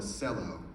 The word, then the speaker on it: cello: instrument is called a cello which is perverse because C's in Indonesian are cha and cello in English is like one of the few times we ever pronounce a c like they do so they call it